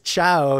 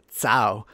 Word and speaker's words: ciao: in a funny way so everything that has the ch sound he says it he pronounce it with so when he says ciao he actually says tsao and we always make